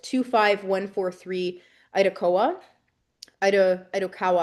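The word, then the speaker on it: Itokawa: called 25143 IDOA ID Idokawa I think is actually how it's pronounced um uh but is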